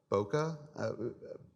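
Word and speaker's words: bokeh: auto hope I get this wrong one right Bokke okay okay that's what that's how it's pronounced okay and that's basically portrait mode everyone it's called bouquet officially but you know you we call it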